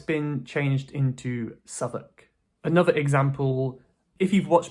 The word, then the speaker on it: Southwark: This is pronounced "Southwark".